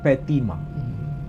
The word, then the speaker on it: Fatimah: istri Nabi Ismail namanya Fatimah hanya beda cara pelafalan di sini tak disebut Fatimah tapi petima mau disebut petima mau disebut Fatimah itu bukan Sesuatu yang mustahil tapi Intinya kalau ada